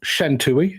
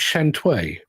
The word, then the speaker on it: Shantui: And our final film is not Shantui, it's Shantui.